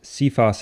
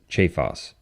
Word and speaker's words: Cephas: that name is pronounced Cephas in English but in ecclesiastical latin it is pronounced che Foss even though it's spelled the same way and as we continue